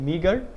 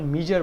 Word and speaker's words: meagre: আপনার গতদিন একটা আর্টিকেল একটা শব্দ ছিল না যে মিগার, MEAGRE, সো এটাকে আমি প্রোনাউন্স করতাম হচ্ছে আপনার মিজার বলে।